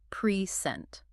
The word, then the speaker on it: present: As a noun, a gift, the stress is on the first syllable, p r e scent. As a verb to deliver something, the stress is on the second syllable, present.